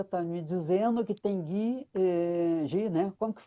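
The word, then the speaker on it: ghee: A Cláudia está me dizendo que tem Gui, né? Como que pronuncia? Gui, Gui, manteiga nos clarificada.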